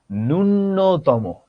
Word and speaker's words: ন্যূনতম: ছোটবেলা থেকে তোমরা উচ্চারণটা শুনে এসেছো বা জেনে এসেছো, ন্যূনতম, ন্যূনতম, ন্যূনতম। কিন্তু এটার উচ্চারণ কিন্তু ন্যূনতম নয়, এটার উচ্চারণ হলো গিয়ে ন্যূনতম।